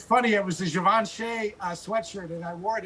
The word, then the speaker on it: Givenchy: Pronounce it Givenchy right.